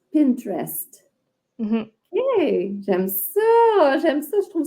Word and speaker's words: Pinterest: Puis les autres, un bon dernier, ce serait Pinterest. tu vois, nous autres, on dit Pinterest en français ou Pinterest en anglais, mais le E du milieu, il est comme absent, là, de ce que C'est j'entends.